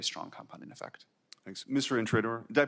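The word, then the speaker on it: Intrator: Intraor. Did I pronounce that correctly by the way?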